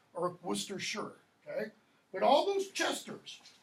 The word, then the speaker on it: Worcestershire: Worcestershire, if you want to pronounce it American. Don't. Worcester is how that's pronounced. Or Worcestershire.